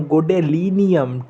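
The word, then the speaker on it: Gadolinium: देखिए, सीरियम नाम है, प्रसियोडीमियम नाम है, neodymium, promethium, samarium, europium, गोडेलिनियम, terbium, ठीक है, माफ़ कीजिएगा, टर्बियम, डायस्प्रोसियम, होल्मियम, इर्बियम, थूलियम, येट्रिबियम और ल्यूटेटियम।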